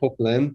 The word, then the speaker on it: Poquelin: Yeah, I guess I would pronounce it as Poquelin, but I just made it up.